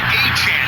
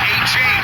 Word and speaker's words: Achane: it's Devin Achane, and yes, that's how you pronounce his name, Achane. He said everyone was saying it wrong with Achane.